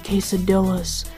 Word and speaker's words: quesadilla: Where do I find the quesadillas? Quesadilla. Quesadilla. It's pronounced quesadilla. Quesadilla. Quesadilla. Ria. Ria. With the tongue. With the tongue. Use the tongue.